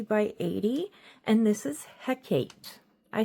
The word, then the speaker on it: Hecate: And this is Hecate.